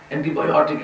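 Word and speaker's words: antibiotic: بایوٹک کہہ دیتے ہیں، تلفظ کا صحیح ہے اینٹی بایوٹک ہے، کیونکہ آئی سی پر جو نون ختم ہوتے ہیں ان کا سٹیس جو ہے وہ پینلٹیمنٹ سیلیبر پر ہوتا ہے۔ اینٹی بایوٹک کہنا غلط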